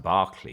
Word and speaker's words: Berkeley: There was a idealist, you've probably heard of him, George Berkeley, pronounced Berkeley, even though it's written Berkeley, it's pronounced Berkeley, like the Berkeley card, Bishop Berkeley.